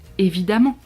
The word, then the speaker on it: évidemment: like bien sûr bien sûr bien sûr or évidemment évidemment mais que font ils descendu à prononcer et ceux à 5 évidemment un nouveau